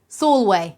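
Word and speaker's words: Sulwe: jack not jackie and is it pronounced soul way or soul way sure sure soul way that's how you say it soulway is it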